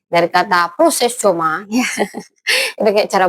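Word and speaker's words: προσεύχομαι: Kalau kita kupas dari bahasa aslinya Yunani, dari kata Yunani proses C, dari kata proses coma, ya. Itu kayak cara bacanya gitu ya.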